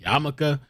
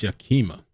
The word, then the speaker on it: Yakima: I keep wanting to pronounce it Yamaka, but I believe it's Yakima.